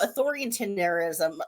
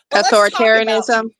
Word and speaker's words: authoritarianism: of press and I mean let's talk about authoritinerism and I'm not pronouncing right. Authoritarianism.